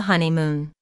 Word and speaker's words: honeymoon: the stress on the honeymoon there are three syllables in honeymoon with the stress on the first syllable Moon this content word